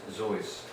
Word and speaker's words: Seuss: Seuss was born Theodore Geisel on this day in 1904 in springfield massachusetts Zeus is the maiden name of his mother Henrietta suits the correct bavarian pronunciation is Joyce the leaders of his